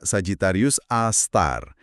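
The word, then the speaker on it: Sagittarius A*: Bacanya Sagitarius A Star.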